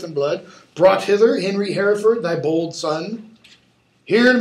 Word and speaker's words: Hereford: And the king says, okay, now that you're here, now that you've gotten your niceties out, cousin of Hereford, or Hefford as the Brits would pronounce it, what dost thou object against the Duke of Norfolk, Thomas Mowbray?